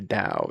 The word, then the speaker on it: Tao: Sorry, Tao. It's pronounced like a DEA.